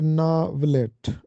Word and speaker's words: ناولٹ: ہیں جو کہ غلط ہے۔ اس کا درست تلفظ ہے ناولٹ۔ ناولٹ نثری صنف ادب ہے۔ یہ افسانے اور